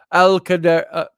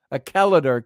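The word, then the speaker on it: Achallader: Glencoe, to come to Alcadar, Acaladar Castle. Acaladar Castle. There you go. Get my emphasis on the right syllable.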